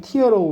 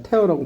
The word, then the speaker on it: tear: 발음도 달라. 눈물 할 때는 tear라고 발음하고 자 찢다라는 동사를 할 땐 뭡니까? tear라고 발음한다 이 말이야.